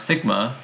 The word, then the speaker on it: sigma: So this is called variance in statistics, and the symbol, actually pronounced sigma, is the standard deviation.